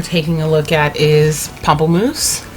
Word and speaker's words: Pamplemousse: I've heard people call it Pamplemousse, and I just feel like that sounds funny. I heard it initially pronounced Pamplemousse, which kind of sounds a little bit fancier, so that's what I'm gonna go with. Because Pamplemousse sounds like Pampers. It just instantly makes me think of Pampers, and I can't stop giggling.